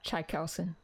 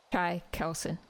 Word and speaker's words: Chaikelson: Uh Chai Kelson. Say that again. Chai Kelson. It's like chai as in chai tea and then Kelson. Chai Kelson.